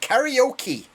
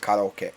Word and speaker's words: karaoke: English we pronounce it karaoke karaoke but actually it's a Japanese word that's pronounced karaoke which is totally different and British people butchered